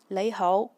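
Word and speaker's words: 你好: as nong hao and in Yue Chinese or Cantonese it's pronounced as nei hou.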